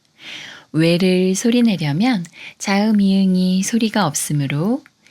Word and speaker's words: 웨: 왜를 소리내려면 자음 이응이 소리가 없으므로 문의 우와 비슷한 우를 먼저 발음하고 에그의 에와 비슷한 에를 빠르게 붙여서 왜라고 소리냅니다. 왜, 왜, 왜. 웨딩의 왜와 비슷합니다.